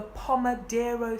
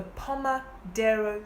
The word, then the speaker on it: Pomodoro: for me and this system is called the Pomodoro system Pomodoro is spelled p om e d R o the Palma Dara system this was a system created by an